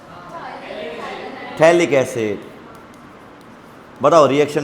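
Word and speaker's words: phthalic: याद है तो बताओ बोला था नोमेन में पी साइलेंट होता है थैलिक एसिड बताओ रिएक्शन में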